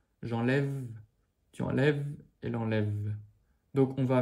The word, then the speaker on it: enlève: Au début, pour je, tu, il, le E ne se dit pas à la fin. Donc on termine sur le son VE. J'enlève, tu enlèves, elle enlève.